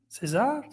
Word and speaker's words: Cesar: Cesar. That's it. That's Kaiser.